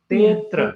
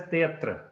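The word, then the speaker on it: तेऽत्र: Tetra. Tetra. Tetra. Okay, you don't pronounce it as teatra. That is wrong.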